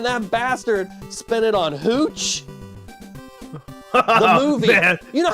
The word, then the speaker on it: Hooch: I'm being told it's pronounced Hutch. No, no, it's Hooch.